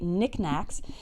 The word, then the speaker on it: knickknack: Okay, you'll notice that the K at the beginning of Nick and Knack are both silent, so we say knickknacks.